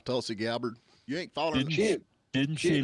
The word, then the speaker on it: Tulsi Gabbard: Tulsa Gabbard or Tulsi Gabbard. yeah, Tulsi Gabbard.